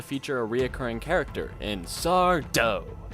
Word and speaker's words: Sardo: It's also the first episode to feature a reoccurring character in Sardo. No mister, accent on the dough.